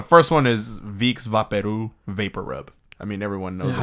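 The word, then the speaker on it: VapoRub: Yeah, but Vaporu is also wrong because they're trying to pronounce vapor rub.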